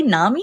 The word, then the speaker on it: NAMI: you're now involved with do I say Nami is that how I say yes yes you said it right hey so the National